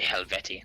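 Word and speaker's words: Helvetii: Silver's gonna yell at me I'm gonna say helvette uh yeah yeah just to say helvetti there you go there's a character action game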